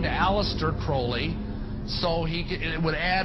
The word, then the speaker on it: Crowley: or develop Aleister Crowley he likes to have his name pronounced Crowley to rhyme with holy and the statements today